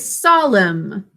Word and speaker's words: solemn: Everyone, please write solemn. Make sure you're sounding out that last syllable as M.